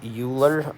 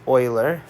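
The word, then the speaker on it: Euler: Oiler and so I know it looks like uler um and uh but it's pronounced Oiler and uh for Oiler that e is that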